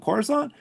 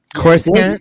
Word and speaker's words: Coruscant: I'm like, did they blow up Coruscant?